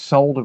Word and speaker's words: solder: get some leaded solder we pronounced solder with the l on this channel we pronounce it correctly grab some solder and